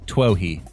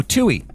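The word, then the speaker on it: Twohy: a couple of times I never know how to say this dude's name TWY no tuy it is tuy is it Tui it is David tuy um so so David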